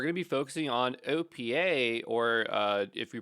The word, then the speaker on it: OPEA: typing Opa GitHub and so Opa or Opa as they like it to be pronounced is a collection of